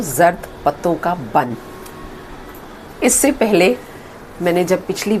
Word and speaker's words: Zard Patton Ka Bunn: आप सब में से बहुत सारे लोगों ने मुझे जर्द पत्तों का बन पाकिस्तानी ड्रामा हम टीवी पर उसकी सजेशन दी थी। आज मैं उसका प्रोनाउंसिएशन ठीक कर रही हूँ, जर्द पत्तों का बन।